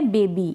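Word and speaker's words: baby: अब यहां पर यह जो स्पेलिंग है बेबी। यहां पर वाई को हम ई पढ़ रहे हैं।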